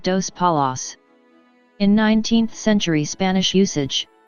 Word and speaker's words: Dos Palos: gave it the name dos palos colony but pronounced it with their alsatian german accent as das palace this pronunciation remained for